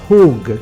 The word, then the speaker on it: chuwg: La parola cerchio in questo versetto è tradotta dalla parola ebraica chug, pronunciata hug, che descrive un cerchio, un compasso.